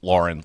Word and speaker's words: Lauren: I got an official statement from Ralph Lauren saying that it's pronounced Lauren like a girl.